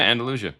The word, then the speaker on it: Andalusia: Yeah, Andalusia.